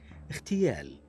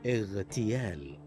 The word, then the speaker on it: اغتيال: وحرف الغين من الحروف المجهورة، ويخطئ بعضهم عند النطق به مهموسا ليتحول إلى صوت الخاء المهموس نحو اغتيال واغتصاب، فينطقها بعضهم هكذا اغتيال واغتصاب، والصحيح اغتيال واغتصاب بإيضاح صوت الغين وصفته المجهورة.